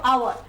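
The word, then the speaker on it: hour: এখানের মধ্যে এইচটা সাইলেন্ট, তার জন্য আমরা বলবো আওয়ার।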